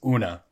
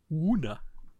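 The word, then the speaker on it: Oona: trying to say is that you're missing a letter there, DJ. It's Una. Una. O-O-N-A.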